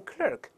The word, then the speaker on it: clerk: 不一样，在英式发音里边，这个 er 不规则发音，发成 r 读成 clock，clock，办公室的文员，在美国读成 clerk，就是售货员的意思。